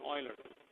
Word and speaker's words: Euler: newton euler dynamics newton euler so this is you pronounce it as newton euler okay or newton dynamics